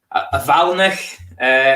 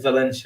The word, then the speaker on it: valinch: I think I always pronounce the first one Valinch. I always thought it was Valinch. Valinch. Okay, I read it wrong.